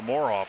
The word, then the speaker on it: Moroff: Or Muirhoff, is that how you pronounce it again? Muirhoff? Moroff, yeah. Moroff, okay. Moroff, yeah. Just, that rims are totally unfriendly to him. Could be Moroff, I guess, is probably better pronunciation.